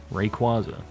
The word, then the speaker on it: Rayquaza: I pronounce Rayquaza by pronouncing qua like quad Rayquaza yeah that's how I